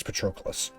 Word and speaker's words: Patroclus: remember trochleus patrickolis i don't i think it's patroclus got derailed by hades um what's wrong with